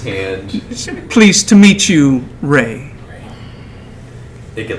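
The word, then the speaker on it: Rhe: I'm Ray. Ray, pleased to meet you, Ray. R-A-Y? R-H-E. R-H. Ree. No. Ray. Oh, please. Pronounced like a gust of wind blowing through the autumn trees.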